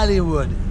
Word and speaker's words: Hollywood: Faut bien prononcer le H. Hollywood. C'est pas O, mais H.